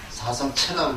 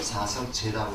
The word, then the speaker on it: 사성제: 원래 이 한자로 찾을 때는 채입니다. 채라는 말인데, 여기 불교에서 읽을 때는 죄라고 읽습니다. 그러니까 이거를 사성체라고 읽지 않고 사성제라고 읽습니다.